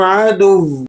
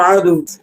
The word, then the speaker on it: عدوٌ: Spelling کے ساتھ اسے سنیے گا۔ عین زبر ع، دال واو دو پیش دوں، واو دو پیش ون، عدوٌ۔ جب آپ اس کو